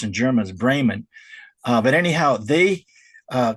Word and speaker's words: Bremen: spelled it's pronounced I guess in English it's Breman, but it's pronounced in Germans Braymond.